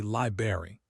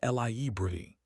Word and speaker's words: library: Most people say library, 2 syllables, but here's the thing, slowing down for emphasis. It's actually library, 3 syllables. That's library. The first R is actually there, sitting between the B and the A, and we need to acknowledge it.